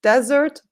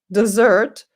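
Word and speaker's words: dessert: that's the desert desert you can see the difference desert desert the stress is different that's what you eat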